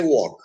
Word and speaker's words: walk: but then we say walk so there l is silent but in bulk l